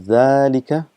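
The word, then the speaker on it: ذلك: uh reminding you that it is pronounced as zalika but this alif is omitted because of constant usage and it's written as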